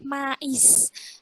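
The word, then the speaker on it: maïs: Nah, kalau yang mais ada titik duanya itu dibaca mais. Jadi i-nya ditekan. Jadi i-nya harus dibaca. Artinya jagung manis, mais. I-nya harus dibaca. Tapi kalau yang bawah me.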